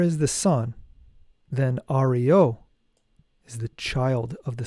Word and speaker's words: Ario: The disciples should pronounce the mantra Ario, A-Ri-O, in order to prepare themselves for the ascension of the sun with the Sig rune, which is the next rune.